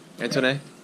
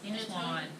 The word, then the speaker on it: Antoine: Antoine? That's not how you say it. How do you say it? Antoine. Antoine? That's how my dad's name. Oh, is it? Antoine? Okay, that's French. Antoine.